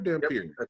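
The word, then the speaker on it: Dhampir: Am I saying it right? Dampier? Dampier. Yep. Dampier's Dampier / Daywalker.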